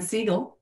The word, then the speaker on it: Siegel: okay hey hi thanks for having um Dan seagull I'm a stickler for pronunciation if nothing um I have had the